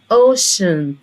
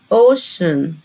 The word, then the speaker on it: ocean: الفكرة اللي فيها ان انا عندي هنا السي مش هنطقها السي ولا هنطقها ك. انا عارفة ان السي بنطقها يا اما السي يا اما ك. هنا هننطقها، بص كده نطلع لها سهم، هنا هننطقها شه.